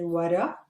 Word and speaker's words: وراء: We don't pronounce the hamza at the end. We just say وراء.